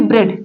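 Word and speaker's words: bread: ब्रेड यहां पर देखिए ब्रेड जो बोला जा रहा है यहां पर ए साइलेंट है ए साइलेंट है बिकॉज ए का कोई साउंड नहीं निकल रहा है तो यहां पर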